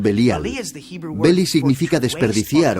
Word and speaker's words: Belial: beli y yal belial que nosotros pronunciamos belial beli significa desperdiciar o